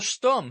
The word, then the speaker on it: Stumm: "Why, it's Colonel Stumm," he cried. He pronounced it like the first syllable in stomach.